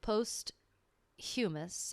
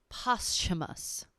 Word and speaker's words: posthumous: go to her last post humus essay post humus hold on posthumous posthumous but it's like a a silent h or it's like a